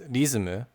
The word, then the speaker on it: リズム: use in Japanese, but they would pronounce it as rizumu, which is similar to the McDonald's example that I gave earlier.